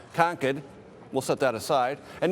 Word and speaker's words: Concord: now Nidia is in Concord that's the California and me pronunciation the proper pronunciation I've been told many times here is ConEd we'll set that aside